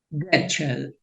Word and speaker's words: Goetschel: El libro, les decía, el autor del libro, Spinoza's Modernity, es Billy Getchell. Se escribe en español Goetschel. Billy Getchell es suizo, de nacimiento, nació en Zúrich.